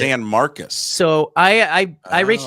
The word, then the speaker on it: San Marcos: I pronounced it San Marcos the first time I saw it. San Marcos State. San Marcus is how they pronounce it. San Marcus.